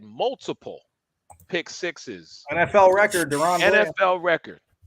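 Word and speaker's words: DaRon Bland: Yeah, Deron Bland.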